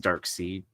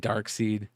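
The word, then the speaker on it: Darkseid: Sticky Goose says it's pronounced Dark Seed. There's some people that do say it Dark Seed.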